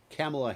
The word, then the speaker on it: Kamala: across the state is it a billboards calling kamela harris a monster notice my correct pronunciation of her name 15 months into the